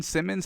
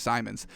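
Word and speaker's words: Simons: six anthony simmons uh simon simmons however you pronounce it i say simmons i think it is simon's um but uh simon's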